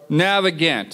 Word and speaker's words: Navigant: How do you pronounce that? Navigant.